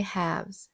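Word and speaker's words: halves: never does anything by haves. 여기서 have이 단어가 조금 생소한 거 같아요. 옥스포드 사전에서 찾아보면이 묵음이고요. 그래서 have라고 읽습니다.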